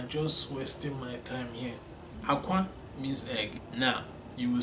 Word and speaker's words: akwa: They are spelled the same way, pronounced differently, okay?